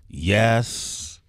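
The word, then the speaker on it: Yesss: Taraji plays a character called Yes. Yeah. Am I saying it correctly? Yes. I could only imagine you. It's yes with three S's.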